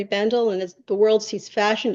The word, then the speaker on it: Bendel: run of his store that's Bendle uh not Bendell and Henry not onri